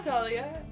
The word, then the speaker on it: Dahlia: My name has a silent H in it? Girl. Yeah, Dahlia. It's after the A and before the Leah.